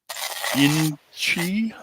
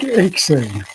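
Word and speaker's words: inxi: Inchi? How do you pronounce that? Any way you like. I think Inksy, sort of like ink in a pen.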